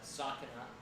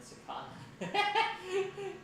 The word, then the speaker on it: Sakana: I recently learned that the way you pronounce his name is Sakana rather than Sakana.